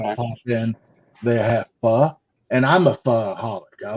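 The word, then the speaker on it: phở: Pho. P-H-O. Well, the O has an accent. Pronounced pho, but yeah.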